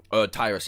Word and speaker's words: Tyrus: Tyrus even. I keep calling it Triss because it's so easy to pronounce than Tyrus, but...